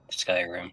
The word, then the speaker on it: Skyrim: Is it Skyrim? Thank you. Skyrim. Yes. Okay. Well, it looks like it could be scrim scrim and oh gosh discipline. How are you buddy? It said is typed Skyrim.